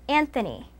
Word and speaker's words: Anthony: In English, it is pronounced Anthony.